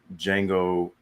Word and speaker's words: Django: I was like, Django from Star Wars, Django Unchained. They're spelled differently, but pronounced the same.